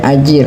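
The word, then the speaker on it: أجير: Nah, bacanya ajir.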